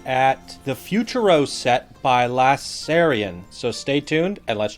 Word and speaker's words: lasairfion: Lass and he says, "Uh, PS, if you do feature my stuff, my name is pronounced Lasserion. The F is silent." All right, let's bring it up. So, this shout out to Lasserion.